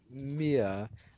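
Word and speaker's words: Myea: by the way um mia actually um actually it's m-m-y-e-a m-y-e-a mia mia how do you say it yeah yeah you pronounce it just like mia because it's spelt that's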